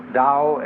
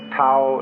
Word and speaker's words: Tao: called the dao tao pronounced dao in the mandarin dialect tau in the shanghai dialect in the cantonese dialect